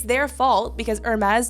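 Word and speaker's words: Hermès: it's their fault because Hermes doesn't seem to have the same issue don't you mean Hermes I mean I think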